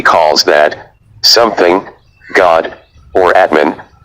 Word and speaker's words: Atman: Spirituality calls that something God, or Atman, pronounced Atma.